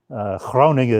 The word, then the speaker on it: Groningen: Groningen is the northern pronunciation of where the town that I'm in.